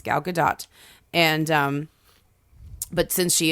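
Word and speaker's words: Gadot: the main it's not gdau it's not gdau that's the that's the inclination is to pronounce the name like it's French but she is actually Israeli so um it's gal gadat and um but since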